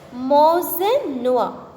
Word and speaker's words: Monseigneur: And it should be pronounced as Monseigneur.